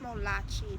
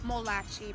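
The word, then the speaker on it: Molokai: the islands of molachi I know there's a K in there Scholars but this is pronounced molachi the word is what molachi beautiful Fu so P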